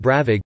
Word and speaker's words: brabig: Bonag, a flat cake bread, usually made with dried fruit brabig, pronounced bravig, to warm the backs of the legs by the fire brew, a steep bank, a grassy cliff, headland.